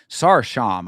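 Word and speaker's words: Sarıçam: This is Tanner Boser versus Gokhan Sarsham, I believe is how they pronounce that name. It's spelled Sarikam, but it's I believe pronounced Sarsham.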